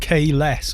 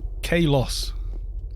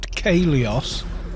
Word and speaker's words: Caloss: This is the first, like, successful one. Like K-less. I know it's K-less. But I get, K-loss.